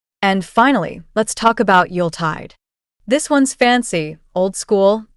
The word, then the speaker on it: Yuletide: Some people say Yuletide with too much emphasis on the second part, but the correct pronunciation is Yuletide. The Yule part should be smooth and quick.